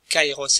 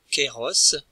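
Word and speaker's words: καιρός: peu plus tard donc kairos ça commence bien kairos et non queiros l'édifice tong qui sont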